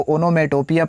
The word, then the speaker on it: onomatopoeia: ठीक है, तो देखिए कुछ स्पेलिंग ही ऐसा है, ओनोमेटोपिया। ठीक है, इसको ओनोमेटोपिया पढ़ते हैं, इसको डिफाइन करते हैं।